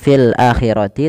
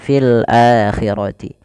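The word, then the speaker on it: فِي الْآخِرَةِ: ya maka dinamakan dengan mad badal panjangnya dua harakat maka tidak dibaca fil akhirati tapi fil akhirati kemudian adabunim Bun ketemu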